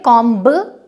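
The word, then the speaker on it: comb: ऐसे ही कंघी, जिसे इंग्लिश में बोलते हैं कॉम, उसमें कॉम्ब नहीं बोलेंगे, उसे कॉम बोला जाएगा।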